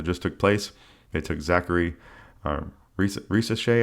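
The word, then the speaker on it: Zaccharie Risacher: They took Zachary Risacher, I believe is how you say his name.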